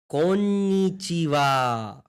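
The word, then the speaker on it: こんにちは: ऊपर सीखा था कि अपन इसको बोलते हैं हा, बट इन सम केसेस इसको हम बोलते हैं वा, जब हम प्रोनाउंस कर रहे हो, ठीक है। बस ये छोटा सा है। सो फिर से चलो ध्यान से देखो। ये है को, ये है न, ये है नी, ये है ची, ये है वा, ठीक है। इस केस में से प्रोनाउंस करेंगे वा।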